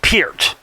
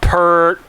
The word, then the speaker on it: Peart: I was mentioning that yes his name is pronounced Pierce not pert or Pierre Peart put that right to bed for good